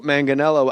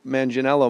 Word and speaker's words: Manganiello: mar mar mercedes lois i can't get joe manganiello i was so my whole life as joe manginello my whole life and then today you come in you drop this hard g on me hey and uh you